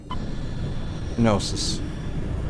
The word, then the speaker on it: Gnosis: So let's go to Gnosis. I'm assuming the K is silent.